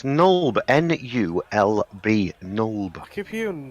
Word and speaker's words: Nulb: Nulble. Right, so you're heading to Nulb. What are you taking with you? Are you taking your horses Yeah. that you found underground? It's Nulb.